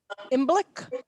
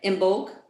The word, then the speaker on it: Imbolc: Oh, Or Which- Imbolc. How do you pronounce that?